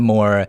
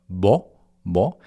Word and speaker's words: 뭐: Similarly, the word for what? Mo in romanization you write it as uh m wo. So you're expecting to hear more like but you have to kind of cut the building up part. Cut it in half or cut the first I guess one third of it and then just hear it from the middle. B. So you hear B. It sounds like B wo to many untrained uh ears.